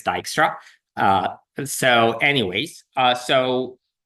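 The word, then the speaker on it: Dijkstra: Uh but for the record, it's it's it's it's Dyra.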